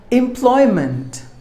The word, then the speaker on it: employment: people were number fine employment M ploy month there are three syllables in this word and we have to stress the second syllable Bly should be given more volume it's a noun employment